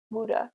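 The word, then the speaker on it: Wu De: The lineage that I study in doesn't have a name other than it's from Global Tea Hut, and then my teacher is Wuda, is how you say his name.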